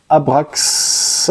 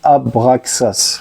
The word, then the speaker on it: Abraxas: Carlos Santana qui s'appelle abrax Abraxas abrax ou je sais pas j'arrive pas à le prononcer c'est Abraxas voilà album de Carlos Santana